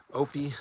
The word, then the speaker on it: Opie: Uh little after passing the sisters or clani the PCT tips towards a notch with the whimsical name Opie Dildock Pass. I heard a local pronounce it opi but the story isn't a hiker campfire tale.